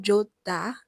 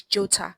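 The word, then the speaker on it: 좋다: The h is silent, but t intensifies. So you see that the digit consonant becomes the tiot consonant because of the emphasis that's been placed. So it's not jota, it is jota.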